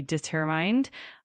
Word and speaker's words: determined: Keep that emphasis on the second syllable and it should be determined.